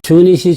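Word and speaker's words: 遵义: 중국 발음으로는 준이입니다. 인구 625만의 큰 도시예요. 귀양 다음에 큰 도시가 준이입니다. 준이시 중심지에서 교외 쪽으로 가면은 동공사진이라는 마을이 나오는데 거기에 이 동주 술회사가 있습니다.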